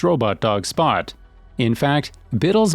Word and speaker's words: Bittle: In fact, Biddle's name rhymes with little for a reason.